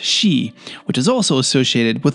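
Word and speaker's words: 四: And in Japanese, the number four can be pronounced she, which is also associated with the word death.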